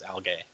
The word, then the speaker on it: algae: how do you say my brother always says al gay I say algae but it's British versus Americans so yeah yeah they're both correct so algae the use